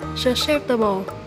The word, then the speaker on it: susceptible: Mình xin đọc lại từ này là susceptible. Nhấn âm 2, tính từ này có 3 nghĩa như sau.